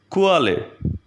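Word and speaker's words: Quelle: The next one is ku, u, which is pronounced like letter combination k, v. Let's have a look of the example kuale, kuale, which means source.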